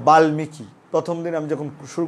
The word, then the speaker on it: বাল্মীকি: করেছিলাম ক্লাসটা আমি বলেছিলাম যে বাল্মীকি উচ্চারণটা বাল্মীকি অনেকেই বলে থাকে কিন্তু সঠিক উচ্চারণ হবে বাল্মীকি, তাহলে বাল্মীকি উচ্চারণটা কীরকম হবে কোন নিয়মে হবে এই নিয়মে হবে, কারণ লয়ের সাথে ম যুক্ত হলে ময়ের উচ্চারণ হয়।